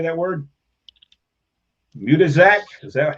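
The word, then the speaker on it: Matuszak: Mutazak? Is that how you say that? Matuzak, okay, and yep.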